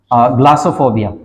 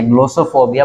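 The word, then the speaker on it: glossophobia: आपको बता देता हूँ, ग्लासोफोबिया। इसको लिखते ऐसे हैं, देखने में इसकी अपीयरेंस है कि इसको प्रोनाउंस किया जाना चाहिए ग्लोसोफोबिया, बट no, this is pronounce ग्लासोफोबिया, की फियर ऑफ पब्लिक स्पीकिंग, है ना।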